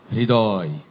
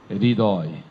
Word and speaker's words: হৃদয়: উচ্চারণটা একটু সহজ করে দিই, হৃ এর সাথে দয় যুক্ত করে দেন, HRI, হৃ, হৃ, হৃ। আবার হিড়ি না, হৃদয়, হৃদয়, HRI, তারপরে দয়, হৃদয়। তেমনি করে এটি হৃ, হ